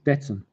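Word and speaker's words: Datsun: no the other one datson datson there's no r in it d a d in N Nissan there's no R there not d r t it's not darts we're not playing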